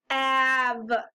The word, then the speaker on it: have: But this word is a little tricky because the H is pronounced correctly, the A is pronounced correctly, the V is pronounced correctly, but the E is tricky. We don't hear the E. It just says av, and the E is quiet.